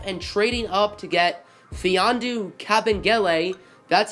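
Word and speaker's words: Mfiondu: trading up to get fee on du Cap and LA that's how you say it the M is silent that's pretty good to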